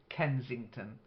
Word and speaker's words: Kensington: you I was listening the first word Kensington with a s in the middle uh it's a very famous part of London Kensington okay and then um